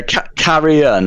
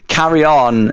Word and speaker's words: Carrion: yeah um yeah yeah carrion i think is how you pronounce it carry on as like uh oh